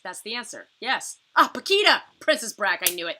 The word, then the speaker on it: Paquita: stuff out princess Brock you rock did you spell it wrong uh technically I do remember the spelling it is p-a-q-u-i-t-a Paquita looks like Paquita but it is not it is Paquita very